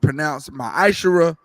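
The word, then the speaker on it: מעשר: Numbers 18:21, Malachi 3:8-10 means 10th in the Hebrew. Is pronounced ma'ashara. 10% of any penny of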